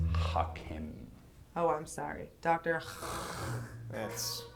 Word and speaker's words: Hackam: eat outside the house listen dr. Hackham it's pronounced knock him oh I'm sorry doctor